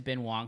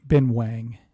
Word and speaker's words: Ben Wang: Ben Wang. Are you sure about that? I am sure, yes. That's the pronunciation of W-A-N-G, even though it's Shang-Chi and not Shang-Chi.